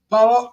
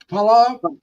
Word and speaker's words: paalam: Palam. Alam. Palam. How do I say it? You say it like in 2 words, like pa, like father.